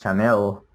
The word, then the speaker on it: Chanel: It's written with a C, but it's pronounced like with an S. Machine. And also the brand of perfumes, Chanel.